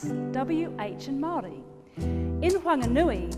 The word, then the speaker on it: Whanganui: wh and Mari in wanganui the H is aspirated so it's not a f it's a w it's not fui it's